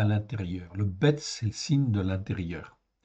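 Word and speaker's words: לב: Leb ou lève, on prononce lève, ok? Les rabbins prononcent lève, ok? Mais en réalité c'est leb. Donc j'ai remis en fait leb tout simplement parce que ça se termine par un bet.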